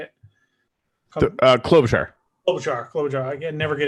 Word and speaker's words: Klobuchar: I haven't looked at what the results are in, but like say Kablucher or Kabluchar. How do you say it? Klobuchar.